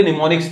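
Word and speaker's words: mnemonics: Actually में निमोनिक्स का spelling ये है MNE करके, ठीक है ना। कहीं बोलो निमोनिक्स एन से शुरू होगा, ये एम से होता है, एम साइलेंट होता है, याद रख लेना।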